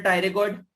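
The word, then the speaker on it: pterygoid: Masseter और temporalis, masseter, टेम्पोरिस और lateral टायरेगॉइड। Lateral टायरेगॉइड, lateral टायरेगॉइड की स्पेलिंग पता ना, पी से स्टार्ट होती है, PTER/GOID, पी साइलेंट होता है।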